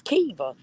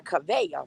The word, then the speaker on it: Kiva: Well, so, first of all, Rita, is she Kavia or is she Keisha? she is Kiva. Now listen, you know I always called her Kavea, right? Because that's how Uh-huh. I was pronouncing it. She's the Mhm. one that gave us the right pronunciation to that name. You Right, know, Kiva. all this time I just been calling her Kavea about. She's the Mhm. one who came out and pronounced it correctly. So Right, it's Kiva.